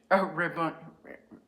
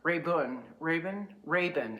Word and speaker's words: Rabun: I am in, okay, I am somewhere in Georgia at the Hambidge, Rabun, I have to pronounce this correctly. It's like Raven, but it's not. Rabun, R-A-B-U-N, Rabun Gap, Georgia, which is right on the border with North Carolina, South Carolina.